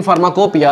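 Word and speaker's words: pharmacopoeia: फार्माकोपिया की spelling लिखो, तो फार्माकोपिया लिखाता कैसे है, फार्माकोपोइया लिखाता है, और पढ़ाता कैसे है, फार्माकोपिया।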